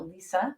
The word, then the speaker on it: Lisza: So it's Lisza, so I spell it Liza, so Lisa, but it's still Lisa.